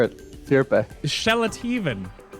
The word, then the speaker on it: Sjeletyven: Sjeletyven. It's pretty good. It's pretty good. For my American. There you go. I'll take it. I'll take it. Now you say it, though. Pronounce it properly. Sjeletyven.